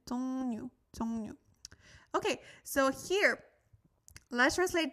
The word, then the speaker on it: 종류: But a lot of times when we have this and a real after that, it's more like a N, pronounced like an. 종류.